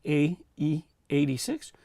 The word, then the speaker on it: AE86: video i asked you pronounce it a e 86 or do you pronounce it like the number 80 and the number 86 and thanks for letting me know that no you say ae86 because sometimes i may